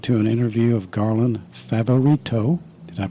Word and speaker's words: Favorito: you've been listening to an interview of Garland favarito did I pronounce it right perfectly and he is from